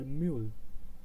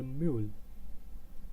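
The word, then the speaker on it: Mühle: And now the second one is their mule. Their mule. See, I'm not saying mul. It's not mul. It's mule.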